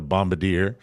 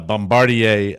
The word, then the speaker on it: Bombardier: it correctly uh sorry sorry for calling it a Bombadier uh Bombardier uh jet and the